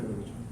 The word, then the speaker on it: Béchon: Yo no lo pronuncio, digo siempre Béchon.